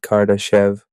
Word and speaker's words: Karadeshev: The game is called Cardashev with an extra A, still pronounced the same.